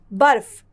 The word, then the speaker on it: बर्फ: है और फ यहां बर्फ यहां ब के बाद रफ की मात्रा का उच्चारण किया जाएगा र बर फ बर्फ किंतु इसका इस्तेमाल होगा फ